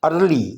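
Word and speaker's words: early: इसका मतलब है पहले इसमें ई साइलेंट है ए आर एल वाय अर्ली ये स्पेलिंग बोले जाएंगे अर्ली अगर एलवाई हटा दिया जाए तो ईयर बन जाता है ई ए आर ईयर और एल वाई लगाने से ई साइलेंट हो जाएगा और यह हो जाएगा अर्ली अगर हम ए को साइलेंट करते हैं तो तब भी प्रोनंसिएशन वही रहेगा अर्ली my teacher let मी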